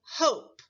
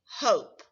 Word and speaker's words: hope: we write a p if i left the word like this it would be pronounced hop to spell hope i need to add my magic letter e now the word is hope remember the o and e work together to stand for the o sound let's take a